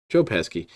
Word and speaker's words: Joe Pesci: How do you always pronounce his name? Joe Pesci.